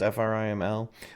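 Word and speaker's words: Tina Friml: Her name is Tina Frimmel, I think it's how it's pronounced, Friml.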